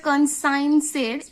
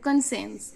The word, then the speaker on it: conscience: বানানটা রাখবে, এটাকে কিন্তু উচ্চারণটা হবে কনসাইন্সের, SCINC সাইন্স, কনসাইন্স নয় কিন্তু কনসেন্স।